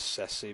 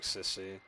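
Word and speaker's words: Cecie: I always pronounce her name as Ceci, but the way they say it sounds like Sissy.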